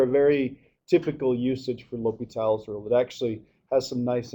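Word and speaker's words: L'Hôpital: Um it's it's not la hospital. Um you pronounce this liital. People will look at you funny if you say la hospital although there are some pneummonic devices you can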